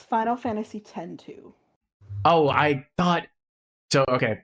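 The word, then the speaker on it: Final Fantasy X-2: It's Final Fantasy 10 2.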